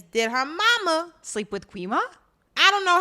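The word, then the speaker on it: Gwi-Ma: Quima. Huh? Quima. So he says she holds my mark, right? She holds my mark, but I can't control her. So my question is, did her mama sleep with Quima?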